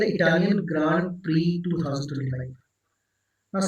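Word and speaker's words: Prix: Next question है हु वन the Italian grand pre 2025? नाउ see here Italian grand pre यहां पर मैं spelling लिखी है पी आर आई एक्स पर मैं पढ़ रहा हूं इसको पी आर आई एक्स को प्री पढ़ रहा हूं।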